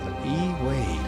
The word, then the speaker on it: Ey Wade: That's an They're interesting Y, but you pronounce it E. Wade.